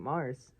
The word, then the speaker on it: Mars: It's Mar, not Mars, but Mar. just don't pronounce S. Mar.